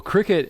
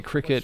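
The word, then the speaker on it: Cricut: got one for christmas i think it's spelled like uh c-r-i-c-u-t so it's like a quick cut it just cuts out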